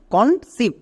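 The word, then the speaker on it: conceive: Next এবার দেখো ই আই ই I vowel blending word এর জন্য হস্বিকার বসিয়ে দাও। ভি এর জন্য ভো এবং শেষেরই সাইলেন্ট। তাহলে এর উচ্চারণ কি হলো? কনসিভ।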